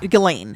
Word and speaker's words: Ghislaine: Oh, Ghislaine. Ghislaine. I've heard it pronounced Ghislaine.